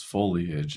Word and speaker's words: foliage: the word of foliage, some people just pronounce foliage as foliage. In other words, they take that E sound and the O sound and they combine them together and put them before the L.